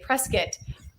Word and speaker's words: Prescott: Prescott. Say it right. Excuse me, Prescott. Are you sure that's how you say it? It's Prescott. Prescott.